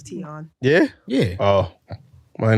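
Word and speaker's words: Tionne: name you mean tion I never heard somebody say to you T-Boz's name is teon yeah yeah oh well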